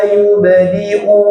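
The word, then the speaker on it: يُبْدِئُ: Nah, ini banyak yang keliru di ayat 13 ini. Yubdi'u, hamzahnya dibaca yubdi'u. Coba. Nah, banyak yang bacanya innahu huwa yubdi'u wa yu'id-nya hilang atau dipanjangkan. Yubdi wa yu'id, enggak dipanjangkan ya, dibaca hamzah.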